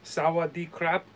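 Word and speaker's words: สวัสดีครับ: thai and it's uh for for men it's sawwa d crap okay so and you you like a slight bow and you put your hands together like this and then for women uh who are speaking it it's so crap yes and that's that's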